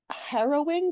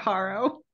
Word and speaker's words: harrowing: hero heroing you just you just pronounced Harrow the nth incorrectly it is harrowing okay it's not Haro I can't say that